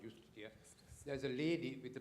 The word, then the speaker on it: Justitia: If you go to a Supreme Court into any Western country, there is Justitia, there is no J word in Latin, it's I-U-S-T-I-T-A, but it's pronounced Justitia.